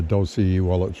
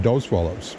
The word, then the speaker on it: Dosewallips: I always pronounce it Dosewallips, but you can pronounce it both ways, I guess. But I guess the more correct way is Dosewallips.